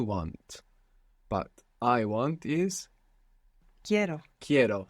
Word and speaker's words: quiero: But I want is Quiero. quiero. So we stress down on that E and it splits into IE.